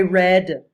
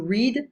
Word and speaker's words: read: I read. So this verb also is very important. To read, read. It's the same spelling, but you pronounce it differently.